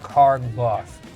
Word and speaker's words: Carr-Gloth: I've never heard before my last name is pronounced carbo so c a r